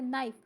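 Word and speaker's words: knife: obviously हमें पता है हम इसको नाइफ तो नहीं पढ़ते इसको हम पढ़ते है नाइफ जस्ट इसमें के लिखा जाता है क्योंकि ये इसकी कंप्लीट स्पेलिंग होती है इसके बाद जो तीसरा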